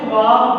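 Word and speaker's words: خواب: और ख्वाब में तलफ़्फ़ुज़ के हवाले से एक बात बता दूँ, बच्चे इसको ख्वाब पढ़ते हैं, यह वाव लिखा जरूर जाता है लेकिन ये साइलेंट होता है।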